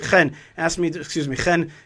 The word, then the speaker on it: Chen: Chen is the right way to pronounce it.